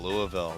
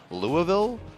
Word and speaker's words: Louisville: Oh, Louisville.